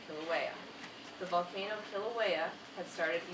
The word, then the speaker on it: Kilauea: see the same spell it out phonetically so I know it's kill a way so I can go back and I can say Kilauea the volcano Kilauea had